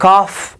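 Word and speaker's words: calf: د سی ای ال اف کلمه کې کاف تلفظ کېږي د ال حرف تلفظ نشو.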